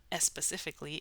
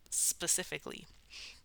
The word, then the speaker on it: specifically: is specifically so specifically as an American English speaker I'm going to start that with an S sound not an S sound it's not a specifically it's just specifically um so how do